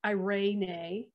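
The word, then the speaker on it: εἰρήνη: i found um there's the greek word pronounced irene and it's um probably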